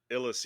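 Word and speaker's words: Ilus: a disease sprinting on I'm guessing this is ilis ilis yep you said you pronounced it right uh jafir it's Bari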